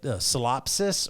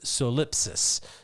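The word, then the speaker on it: solipsism: You can say it solipsis, or you can say it solipsis. You can say it either way.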